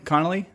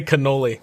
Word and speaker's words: Connolly: say your last name Connelly Connelly yeah con some people say canoli like I'm a dessert which I can be